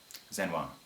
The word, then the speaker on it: Xenoyr: Now, in terms of my name, XENOYR. Yes, that's how you pronounce it. However, Zen is fine.